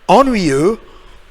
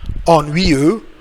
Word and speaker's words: ennuyeux: Après ça, on a ennuyeux. Again. Ennuyeux. Ennuyeux all together. So it's boring. Ennuyeux. Boring. Une autre fois, X est muet, so silent X.